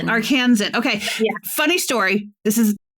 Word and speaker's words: Arkansan: How do you say it? Arkansa-ian? Arkin Arkin fellow Arkansan Arkansan.